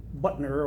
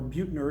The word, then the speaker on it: Buettner: a man named uh Dan Butner or Buettner depending on how you want to pronounce his name claims that people live